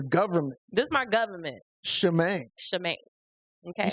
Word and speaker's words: Shemaine: I get Charmaine, like they get the spell wrong. They spell it with a C. It's supposed to be spelled with an H. It's pronounced Shemaine. Shemaine. But if you're saying it fast, it's Shemaine. Shemaine.